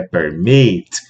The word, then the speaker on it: permit: O verbo aqui é permit. A sílaba tônica é aqui.